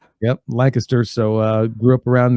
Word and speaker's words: Lancaster: and then also Lancaster which nobody but people in Pennsylvania know how to pronounce that word it's lanter lanter yeah yep Lancaster so uh grew up